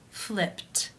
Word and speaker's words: flipped: sound in the infinitive the final sound of the verb is p which is unvoiced therefore it is case one and the ed is pronounced as a t flipped flipped how do you